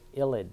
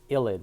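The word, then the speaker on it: ylide: illid this crazy looking reagent let's see what should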